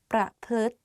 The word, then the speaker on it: ประพฤติ: So the correct way of pronouncing this is ทฤษฎี ประพฤติ behave ประพฤติ behave. Let's practice again. ประ พลึดประ and then พลึด like L sound within the word so it's like ประพลึดรุนแรง